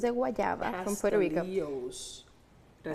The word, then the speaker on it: pastelillos: Pastelillos. Did I say it right? Pastelillitos. That's a debate in Puerto Rico, but I say pastelillitos.